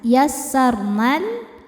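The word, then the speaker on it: يسرنا: Saat berhenti di na hukumnya adalah mad thobi'i zohiri. Sebab ada alif yang sebelumnya fathah. Cara bacanya dipanjangkan dua harakat. Yassarna. Namun ketika diwasolkan atau diteruskan yassarnal nanya jadi pendek, pemanjangnya gugur.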